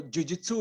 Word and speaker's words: jiu-jitsu: Am I pronouncing it right? सबसे पहले तो यही सवाल है. Yeah, you're pronouncing it right. So jiu-jitsu is basically it's a Japanese term, and it's the sport we are doing now.